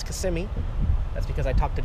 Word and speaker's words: Kissimmee: Many of you probably thought I was gonna say Kissimmee, but it's Kissimmee.